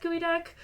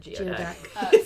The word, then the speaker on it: geoduck: least most of the people know that it's pronounced gooey deck because I've heard way too many people call it geod someone I would like someone in chat to